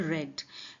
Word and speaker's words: read: पढ़ा था यहां पे रीड की सेकंड फॉर्म यूज की गई है that is called रेड spelling same होती है लेकिन प्रोनंसिएशन होता है रेड आई वंस रेड मैंने